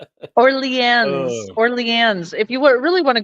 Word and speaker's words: New Orleans: No, it's New Orleans.